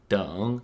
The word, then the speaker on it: 等: in everyday speech as mentioned in the introduction dong can mean to wait and it can also